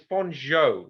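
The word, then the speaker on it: Fanjeaux: i'm sure i'm pronouncing what it's bonjour how do you spell it i think it's f-a-n-j-e-u-x i got it okay did you say bon jovi exactly that's that's how it's pronounced yeah i'm teaching them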